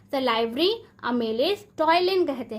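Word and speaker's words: ptyalin: टॉयलिन कहते हैं, क्या कहते हैं, टॉयलिन कहते हैं। पी यहाँ पे साइलेंट है, प्रोनाउंसिएशन पे ध्यान दें।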